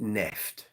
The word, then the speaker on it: Neft: Olive, you pronounce it Neft. Great, thank you. It's German, like Schmidt.